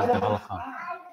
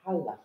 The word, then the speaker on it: הלכה: With hey. But it's silent, isn't it? It's halacha. What do you mean silent? So pronounced, it's, you don't hear it. Hey. Hey. It's lightly, like H. Halacha.